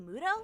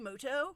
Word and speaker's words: Muto: fun wait a minute is that yugi mudo actually his name is pronounced yugi moto we'll see about that